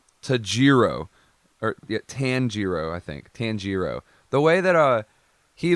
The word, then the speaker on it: Tanjiro: remember it uh tajiro or tanjiro i think tanjiro the way that uh he learned to kill